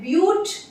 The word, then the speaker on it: but: जब होते हैं 4 तो उसे हम कहते हैं ब्यूट। अच्छा, लिखते BUT है बट इसे बोलते हैं हम लोग ब्यूट।